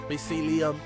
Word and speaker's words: mycelium: Mycelium.